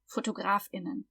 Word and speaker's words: Fotografinnen: If we're talking, we make a glottal stop, Fotografinnen. We don't say Fotografinnen because those are just female, Fotografinnen.